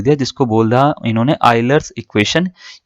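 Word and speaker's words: Euler: जो है ये वो इनका नाम की स्पेलिंग यूलर है लेकिन यूलर नहीं है इनका असली नाम इनका असली नाम है आइलर ठीक है हिंदी में पढ़ेंगे तो ऐसे पढ़ेंगे आइलर इसको ठीक है तो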